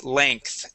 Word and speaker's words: length: So yeah, instead of saying length, and pronouncing that G and an E, we say length, more like an ANKTH.